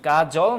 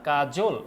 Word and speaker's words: কাজল: প্রচলিত আছে এরপরে কি কি কাজল না কাজল এই জায়গায় কিন্তু ওকার চলে আসছে তার মানে ব্যাপারটা মাথায় রাখতে হবে যে মাঝখানে স্বরে অকলে সেটা কিন্তু ওকারের মত উচ্চারণ হয় ওকে সো আবু মুসা